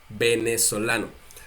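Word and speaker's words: venezolano: v We a b b b benano Ben venezuelano okay Mexico Mexicano Mexico Mexicano in Spanish we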